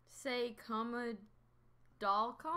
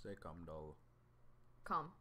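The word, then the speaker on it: 새콤달콤: Say comma doll com? That's not say comma. That's say com doll. Com.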